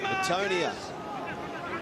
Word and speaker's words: Antonia: Antonia, which is the Fijian pronunciation of Antonio.